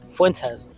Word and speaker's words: Fuentes: misrepresenting his points even the Nick Fuentes interview Fuentes there we go even in that interview he's